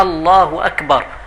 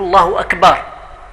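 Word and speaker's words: الله أكبر: كينق فلذلك الانسان خصه ينتبه يحاول ما امك ينطق بهذ الصيغه ديال التكبير على الصيغه الصحيحه الله اكبر هكذا بالجزم وبالهم كين بعض الناس تيقول الله اكبر كين الانسان اللي تيزيد في المد تيقول الله اكبر وهذا كله خطا خص الانسان يحاول ينطق بهذ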